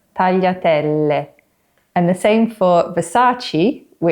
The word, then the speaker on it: tagliatelle: So it's not tagliatelli, but tagliatelle.